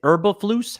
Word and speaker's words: Eberflus: It's Eberflus. How do you say his name? Eberflus.